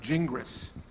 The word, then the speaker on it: Gingras: so in English-speaking countries, it's best pronounced Gingras.